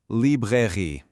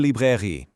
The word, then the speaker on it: librairie: Let's pronounce it. Une librairie. One more time, a little faster. Une librairie.